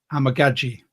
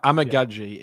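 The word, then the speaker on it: Amegadjie: to thank Mitch for this because I've been pronouncing it wrong for so long it's Kieran amagi the tackle from Yale he was sat there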